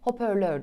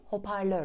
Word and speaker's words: hoparlör: sırada yazımına pek Ağzımızın baktığı genellikle duyduğumuz şekliyle telaffuz etmeye çalıştığımız bir kelime yer alıyor hoparlör genellikle hoparlör diyoruz ama doğrusu hoparlör olacak elimize yanlış yerleşmiş kelimelerden